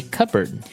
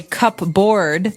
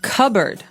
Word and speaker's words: cupboard: We usually keep them in a cupboard. Okay. So you might want to say cupboard because it's cup c u p b o a r d. That's not right. The word is pronounced cupboard.